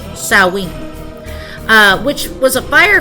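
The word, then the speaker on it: Samhain: celebration of seen uh which looks like it's pronounced saman but it's saen uh which was a fire Festival to celebrate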